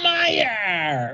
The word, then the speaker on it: Meijer: So when you just get like a M-E-I-J-E-R, why is that Meyer, right?